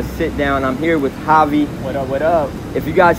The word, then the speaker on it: Javi: Yeah, my name is Javi. You'll see it spelled as J-A-V. They'll confuse it for Jav or Hav. It's pronounced Javi.